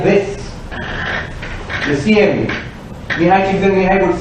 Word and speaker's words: Csikszentmihalyi: Mihai Csikszentmihalyi. I have to congratulate myself on having got the pronunciation right.